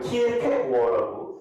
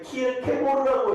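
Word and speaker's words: Kierkegaard: 실존주의 키에르 케고르 아니면 키에르 케고어라고 이제 왜 그러냐면 그 덴마크 어가 영어로 번역될 때 키에르 케고르라고 해가지고 옛날에는 키에르 케고르가 꽤 많이 되는데 지금은 두 개 다 써요. 키에르 케고어 이게 대만식 발음이고 키에르 케고르 이것도 영어식 발음입니다.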